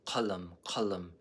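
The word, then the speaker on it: قلم: So you go ka. A good word for this in Arabic is qalam. You can hear the difference. Qalam, ka, touching your uvula.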